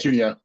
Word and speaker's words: Cuneo: Cuneo, is that right? Cuneo. Oh, Cuneo. I wasn't even in the ballpark.